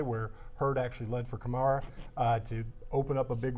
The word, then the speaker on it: Kamara: He pronounces it Kamara.